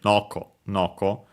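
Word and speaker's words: のこのこ: No noco are accent on the first one on the first mo. So on the no on the first no noco high and everything else low.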